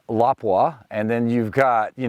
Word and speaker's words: Lapua: premium brands that come from overseas we all pronounce them wrong you know you've got everybody says Lapua and it's lapa and then you've got you know like KES